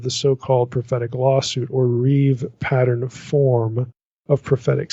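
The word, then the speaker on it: ריב: reeve that's rib but you'd pronounce it reeve like it's riv the reeve pattern reeve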